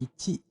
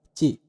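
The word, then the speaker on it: 一: Kemudian 1 ichi.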